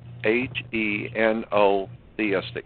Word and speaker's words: henotheistic: we call the Hebrew people were a heo it's spelled h e n o very simple h e n o theistic henotheistic henotheistic means picking one out of a